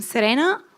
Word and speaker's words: Serena: you everyone here so I'm Serena or Serena depending how you want to pronounce it h I'm one of